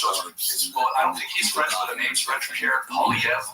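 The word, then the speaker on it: Poilievre: Pierre Polyev. That's from a weird R, silent R. Yeah, it's strange. This is here written down. It's very different. Polyev, yeah.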